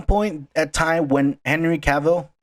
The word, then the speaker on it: Cavill: rumor, at some point at time when Henry Cavill, right? That's how you say it, Yeah, Henry Cavill. Henry Cavill. Henry, Either pronunciation.